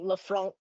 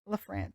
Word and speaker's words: LaFrance: And it's definitely pronounced that way. It's not like Lafront or something. Oh, Not maybe. I don't French. know. But the middle name is LaFrance or We get like a LaFrance.